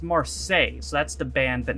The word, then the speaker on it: Marseille: always we're gonna read some comments okay it's pronounced Marseille so that's the band that Neil Buchanan was